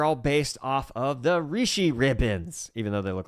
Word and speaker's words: Rishi: Did you like when they're written out it looks like rushy to me even though they always pronounce them rishi in the freaking audios best side.